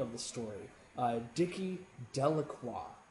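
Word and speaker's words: Delacroix: the story uh dicki delaqua it says delaqua the villagers pronounce this name Delroy and then later on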